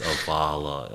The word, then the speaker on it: AVALA: It's AVALA, almost like you're at a spa, like, AVALA, So we had to